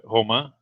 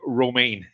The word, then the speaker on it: Romain: uh his name is uh Homa Grojan but the name Homa is written in English he'll be read Roma so when when he